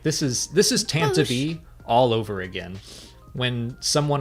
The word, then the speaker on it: Tantive: And I was like, oh, now I have to pronounce it Tantive.